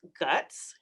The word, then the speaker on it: GHUCCTS: clinical and translational science and yes it is pronounced guts and um as you see here we kind